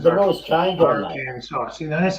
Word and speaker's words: Arkansas: See, I've always pronounced Arkansas as Arkansas. Like the S is silent, and you kind of run the ARK together, ARK.